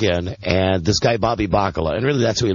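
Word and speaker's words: Bacala: Bobby Baklava. Bobby Baklava. I always get his name wrong. Yeah. Bobby Bakala. Bobby Bakala.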